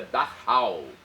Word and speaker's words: Dachau: campo de concentração de dhau na Alemanha escreve-se dachau mas a pronúncia é dahau n na Alemanha então